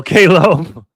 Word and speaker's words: Caleb: I can't say it like vegetable with a B on the end. Say it like the vegetable. Oh, KLB? Caleb or KLB? See, I'm getting it 2 ways now. Pause. LOL, Caleb.